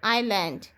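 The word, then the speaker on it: island: আইল্যান্ড আই এস এল এ এন ডি আইল্যান্ড দেখো এখানে এস আছে কিন্তু এস টা কিন্তু উচ্চারণ হচ্ছে না এস এর উচ্চারণটা হবে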